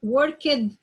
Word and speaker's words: worked: sound, and K sound, and you add D or ED, so I say it like T, or I say it like the sound of the T sound.